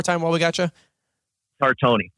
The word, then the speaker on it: Tartoni: Tartoni. Tartoni, that's right.